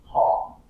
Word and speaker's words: talk: But this is really like walk, because the L is quiet. So it's like walk, right? Talk, right? This is a verb. Hawk. It's the same sound, right? But the L is silent. In English, there's a lot.